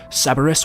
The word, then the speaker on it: Cerberus: I'm not 100% sure since some of the blueprints are blurred out, but the name for this weapon is pronounced Cerberus, which we know is the 3-headed dog that we also saw referenced in Mob of the Dead.